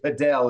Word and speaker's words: Padel: And I have only recently been convinced that that's how I have to pronounce it. So I have to say Padel. It isn't just paddle, right?